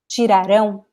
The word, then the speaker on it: tirarão: So here, the pronunciation is estudarão, tirarão. Estudarão, tirarão. Can you tell the difference? Pronounce with me at home, guys. Estudaram, tiraram. The pronunciation of these words is basically the same. The difference is the stress.